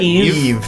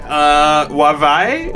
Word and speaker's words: Yve: It's spelled YVE. Was that Eve. Okay. Eve, yeah. I was like, Wavai.